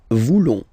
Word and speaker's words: voulons: Then for nous, classic ending, ONS, don't pronounce the S, just pronounce the on. Nous voulons.